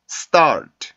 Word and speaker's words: stool: 했었죠 그래서 스탈 이렇게 소리가 나야 지 스탈 이렇게 3개 소리가 나면 안되요 알겠죠 한번 스탈 스탈 스탈 스탈 stool stool 4 요런식으로 소리가 납니다 자 그럼 오늘은 과거